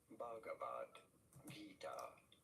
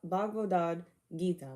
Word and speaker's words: Bhagavad Gita: Bhagavad Gita, often referred to Okay, as simply Bhagavad Gita. Bhagavad Gita. Around those lines. Okay, Bhagavad Gita.